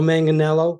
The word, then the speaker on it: Manganiello: me I'm gonna say manelo man don't folks you don't say the I and the tip is it's pronounced the same way as the actor Joe manganello who was actually married